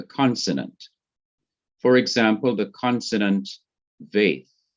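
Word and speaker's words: ב: example the consonant veith without the dot in the heart or the middle of it is to be pronounced as v or v such as in van so the sound of this is v as in but when it has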